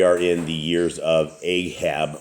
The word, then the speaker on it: Ahab: in the years of Ahab or aab as they as his proper pronunciation is and um you can